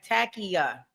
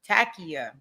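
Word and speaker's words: Taqiyya: Okay, Takia. Okay, that's the pronunciation for it. Takia.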